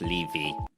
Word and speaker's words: Levy: Levy. My surname is pronounced Levy.